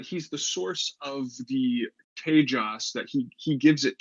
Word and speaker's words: tejas: I was going to ask Josephus how to pronounce k is it Tejas it's apparently Tejas like Paige I have a bit of an